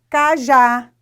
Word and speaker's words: cajá: Então, exemplo, cajá, oxítona. Já falei na outra aula, mas eu falo o ano inteiro. Vamos recordar. Oxítona é quando a sílaba tônica mais forte é a última sílaba.